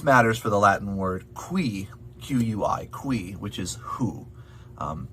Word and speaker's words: qui: it in this text the q u um as you might be hoping expecting does make a quoi sound um not the k that you might be expecting if you know some